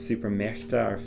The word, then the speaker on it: Supermärkte: And always try and pronounce the A umlaut a bit like an A sound. Es gibt 5 Supermärkte, or 5 Fußballplätze rather than Platz.